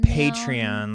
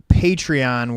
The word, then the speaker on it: Patreon: Patreon, like patron, I guess. Patreon.